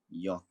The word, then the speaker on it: yacht: toast and roast next dot and yacht dot yacht dot yacht that's d o t dot y-a-c-h-d yacht care and chair let's